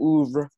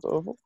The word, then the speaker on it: oeuvre: on, through his whole oeuvre, however that word is, that pretentious word is also pronounced. I feel like it sounds like oval when people pronounce it, but it's not oval.